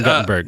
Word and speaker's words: Guttenberg: Well, it's weird because his name is actually spelled Guttenberg, but they say Gutenberg, so that's weird. It's pronounced Guttenberg, actually. His real name is Stephen Guttenberg.